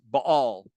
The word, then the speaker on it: Baal: So for instance, one example would be, let's say, Baal, or as it's properly pronounced, Baal.